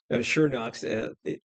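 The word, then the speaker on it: Schönox: It's HPS Shownox. Pronounced ER. The umlaut, little dots on the logo.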